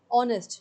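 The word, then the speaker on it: honest: बी ऑनेस्ट। मैंने आपको बताया था वोवेल साउंड आता है। ओ का साउंड आता है। एच का नहीं आता। एच साइलेंट है।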